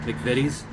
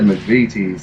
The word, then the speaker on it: McVitie's: it correctly he never looked they just movies McVitie's okay I barely mispronounced it at least okay I love you said McVie teens lawyer remember American English British English tightest of